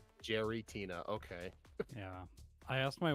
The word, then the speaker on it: Giratina: play Lately Giratina Giratina did you say Giratina okay that's how it's spelled Jerry it's Jerry Jerry Tina okay yeah I asked